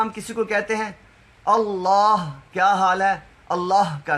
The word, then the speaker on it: اللہ: کسی کو کہتے ہیں اللہ، کیا حال ہے، اللہ کا کرم، تو اللہ لفظ اللہ کے آخر پہ ہا ہے، اس کو بھی پورا پڑھنا چاہیے، ایسے نہیں اللہ کا